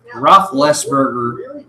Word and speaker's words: Roethlisberger: I can understand it, like when Roethlisberger came one. They were saying Roethlisberger. Roethlisberger. No one knew how to pronounce it.